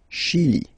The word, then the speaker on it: Chili: Okay, remember, CH, ch. Okay, chi, Chili. La Bolivie.